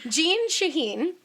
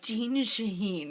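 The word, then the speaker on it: Jeanne Shaheen: It's like Jean Shaheen. It just rhymes. It rhymes.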